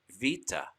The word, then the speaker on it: beta: the letter bait or beta or modern greek would pronounce it vita and then there's dalit